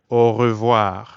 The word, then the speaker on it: au revoir: Au revoir. Notice how when French speakers say au revoir quickly, it can sound like one word.